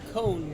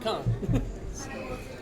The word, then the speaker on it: Kohn: And for everybody's information, Kohn, not Con.